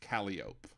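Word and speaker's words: Calliope: be spelled but in New Orleans it's it's pronounced calop why don't ask me in New Orleans it's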